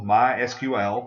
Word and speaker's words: MySQL: There's also MySQL. That's the only time you pronounce the letters separately.